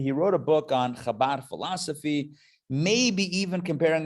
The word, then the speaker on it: Chabad: But no, it's not spelled C-H-A-B-A-D. It's spelled H-A-B-A-D, Chabad. But it's got the dot under the H, which I'm thinking makes it from a ha to a cha or somewhere in between.